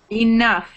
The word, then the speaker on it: enough: Enough. Off. Good. Not enough. Enough would be off. But we say enough exactly like that.